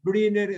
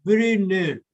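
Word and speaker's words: Brunner: Briner, o sea, una U con diéresis, es una palabra alemana, ¿no? ¿Verdad? Entonces, la pronunciación entre U y I. Entonces, Briner, que secreta una gran cantidad de moco alcalino.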